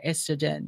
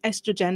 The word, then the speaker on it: estrogen: estrogen or estrogen or estrogen? It depends on where you're from. So for the American English, it's estrogen. And if you're from the British English, it's estrogen.